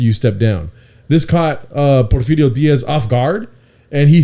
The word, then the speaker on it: Porfirio: He had a coup, military coup on Porfirio Diaz. Yeah. So just to take it a little bit step backward from there, Porifirio.